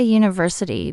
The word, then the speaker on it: university: We say a university because university starts with a u sound which is a consonant sound.